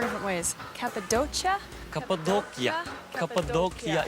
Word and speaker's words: Cappadocia: Cappadocia is the way we pronounce it.